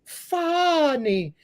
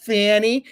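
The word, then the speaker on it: Fani: disqualified from Prosecuting Trump her name is funny not Fanny it's funny it's Kamala not CA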